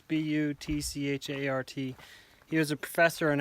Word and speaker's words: Butchart: A guy named Harvey, I think you say his name Bouchard or Bouchard. It's Butchart.